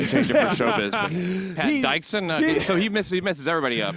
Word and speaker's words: Pat Dixon: That's actually the original pronunciation. I changed it for showbiz. But Pat Dixon. So he messes everybody up. He's like, Pate Dixon.